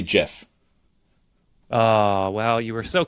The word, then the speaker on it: GIF: how do you pronounce the word GIF? I say Jif.